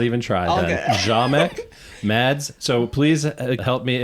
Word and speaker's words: Ziomek: recording, make sure that you know how to pronounce Mads' last name. Ziomek? Ziomek. Oh, wow. Ziomek? Yes, I'm glad I did not even try that. Ziomek, Mads.